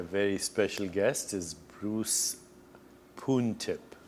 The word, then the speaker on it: Poon Tip: City today my very special guest is Bruce puntip correct correct yes I pronounced it correctly you did indeed so what's